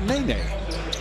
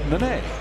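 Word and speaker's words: Nenê: They said Nene. Yet in the pronunciation guide, it's Nene.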